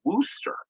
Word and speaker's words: Worcester: worcestershire you know like the sauce but they pronounce it wooster in fact cookie you know living up in the northeast as she did for many years um she calls it worcester sauce here at the house lee and parents